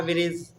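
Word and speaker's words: bridge: बी आर आई जी बी आर आई जी जी क्या डी जी डी हां डी D silent रखिए ठीक है तो भैया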